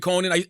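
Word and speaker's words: Konan: But I used to like Crepton Conan.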